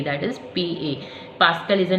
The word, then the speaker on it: pascal: The pronunciation is Pascal, and will be represented by capital P and small a, that is PA. Pascal is the name of scientist.